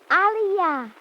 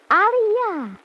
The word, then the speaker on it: Aliyah: Aliyah. Say the words again. Youth. Aliyah.